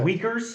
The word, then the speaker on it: Uyghurs: the weakers there okay the weakers the yeah they're called wiegers it's spelled uyghurs they're like the muslim